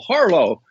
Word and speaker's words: Harlow: asked this fellow Bill Harlow who I remember his last name easily because it rhymes with Harlot okay what he said